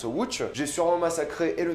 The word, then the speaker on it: Łódź: Oui, ça s'écrit comme ça, mais ça se prononce Łódź.